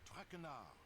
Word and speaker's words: Traquenard: I do not wish to hear my native tongue butchered while I eat. As Fair for enough. my name, not Traquenard. It is Traquenard.